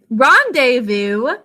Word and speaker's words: rendezvous: a rashi rendezvous so rendezvous the part that's unusual about this is the way we think to spell it it's so different we've got some silent letters in this we think to spell